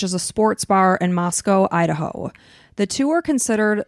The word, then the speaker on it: Moscow: But they pronounce it Moscow.